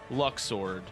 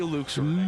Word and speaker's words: Luxord: And who exactly is Luxord? Or as some would say, If you say Luxord, I swear to fucking Luxord.